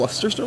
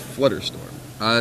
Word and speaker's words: Flusterstorm: Is it Flusterstorm? I thought it was Flutterstorm. It's Flusterstorm. Oh. You get all flustered? Pretty sure it's Flusterstorm. Well, I'll look it up real fast. It's spelled Flusterstorm in his list. It is Flusterstorm on the deck list.